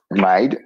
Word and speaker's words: Maid: C'est Maid Ménard ou bien Mid Ménard. Yes, Maid. Maid, il prononce comme ça.